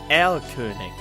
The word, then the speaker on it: Erlkönig: I mean, that's how it's pronounced, Erlkönig in German. Why is it translated into Maou?